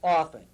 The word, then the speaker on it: often: n but it's pronounced often often right often and that's be not often right and that's because as my mother said the t is silent like the p in bathing but there is no